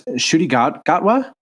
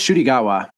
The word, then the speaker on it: Ncuti Gatwa: He's got a name that it's hard for me to pronounce. Ncuti Gatwa? I was hoping you were going to pronounce it because, I can't. Yeah, I think it's Ncuti Gatwa.